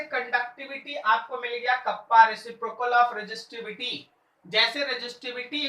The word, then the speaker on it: kappa: Pronunciation है इसका, symbolic नाम है कप्पा, KAPPA, ऐसे के जैसा लिखेंगे।